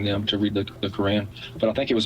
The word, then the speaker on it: Quran: It's the Quran, right? That's how you say it. The Quran. I guess it does sound like crayon.